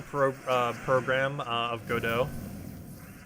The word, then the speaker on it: Godot: uh program uh of godot like you look at the word and your first expression is that is not good oh because it's go dot it's g-o-d-o-t but the t is silent for whatever reason i